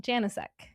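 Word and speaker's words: Janicek: Janasek.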